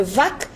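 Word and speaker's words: वाच्: Là, après, il doit y avoir plusieurs prononciations, ça se trouve, mais dans la langue des Védas, c'était sans doute Vach. Quand c'est tout seul, c'est Vach.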